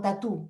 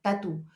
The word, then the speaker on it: tatú: El pueblo aymara lo conoce como tatú y se escribe tal cual, T-A-T-U, tatú.